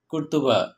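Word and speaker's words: قرطبة: মুসলিমদের শাসনাধীন আন্দালুসিয়ার রাজধানী ছিল কর্ডোবা, আরবিতে কর্ডোবার উচ্চারণ কুর্তুবা।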